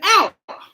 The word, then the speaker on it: hour: When people don't know how to say hour and they go hour, hour. No. If I hit you, you go ow. That's the pronunciation.